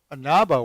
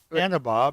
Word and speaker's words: Anaba: So I just found out I was across the street at Anaba Wines, and I'm being corrected as Anaba because they Anaba? prefer that pronunciation.